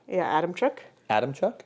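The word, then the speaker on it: Adamczyk: karolina adamin ad adamin Adam Chuck yeah Adam Chuck Adam Chuck there's no h in it CZ YK I believe is Chuck anyone from um Manitoba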